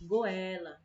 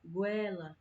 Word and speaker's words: goela: Aqui no Ceará a gente tem o costume de falar goela, goela, como se separasse assim, as sílabas, mas o certo é goela, goela, certo?